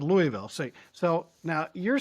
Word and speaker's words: Louisville: It's one syllable, folks.